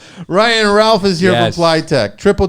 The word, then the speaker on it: Pliteq: Ralph is here for ply triple W ply it's spelled p l i TQ plyable technology is where that comes from that's where it comes